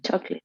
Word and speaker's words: chocolate: is the word chocolate you see four syllables in spanish in english is two and we say yeah chocolate okay not chocolate that is the typical mistake that students make chocolate uh catholic um i'm